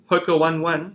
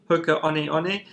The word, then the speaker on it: Hoka One One: plate shoe um in south africa we say hoka one one but the correct pronunciation is uh hoka honey honey they've had a carbon fiber plates inside their